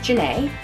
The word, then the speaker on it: Ghenet: But my parents named me after my grandfather John, so they changed the pronunciation to sound like John.